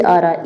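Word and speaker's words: hour: insect में एन आ जाएगा क्योंकि ई से आ रहा ई न इंसेक्ट फिर है हाफ एन आर आएगा एन क्योंकि इसको आर पढ़ते हैं एच को नहीं पढ़ा जाता है अमेरिकन में एन आ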